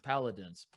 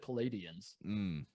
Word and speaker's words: Paladins: Paladins. I always want to say like Palladians for some reason. Well, it's like the Palladium, which is the venue. Yeah, but these are the Paladins, and for the people that are new to the pals?